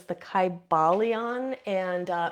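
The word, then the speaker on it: Kybalion: So, um I can't really like type it right now, but it's the Kybalon. And uh it's a very old book. Like I said, it's from 1908. It's spelled K Y B A L I O N.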